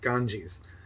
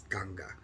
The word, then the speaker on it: Ganga: near the river ganga sometimes pronounced ganges but that actually means bald man so it's ganga just outside of varanasi